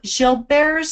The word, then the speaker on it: Gilbert: I have Gilbert's syndrome. Now, how many of you know what Gilbert's syndrome is? It's spelled Gilbert's, but it's a French word, so it's Gilbert.